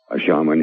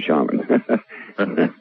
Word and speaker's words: shaman: And by the way, we say shaman instead of shame because there's no shame in being a shaman. So that's the way we pronounce it instead of shaman, although I know that's the most accepted pronunciation.